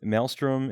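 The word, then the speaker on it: Mailstrom: kind of neat um melstrom is another one that's actually like spelled like email so Maelstrom m a i l s r o m and um melstrom is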